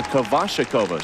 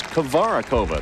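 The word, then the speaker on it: Kovaříková: all time in fact for years we pronounce Rod's name kashak kova she says if she's going to be an American it's kavara kova that's what we call her now a Flawless performance and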